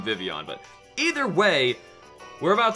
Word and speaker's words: Vivillon: it the show says vivillon technically it's based off of a like a French butterfly that's supposed to be pronounced like that so whatever I should probably start saying vivillon but either way we're